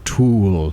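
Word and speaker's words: Thule: what you did there that to is pronounced tul they make roof racks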